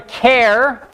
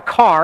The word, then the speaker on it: char: We call it either a char, like the first syllable in character, or some people call it a car, even though it's not called a character, because they just look at it and they're like, oh, if it was one syllable, it would just be car.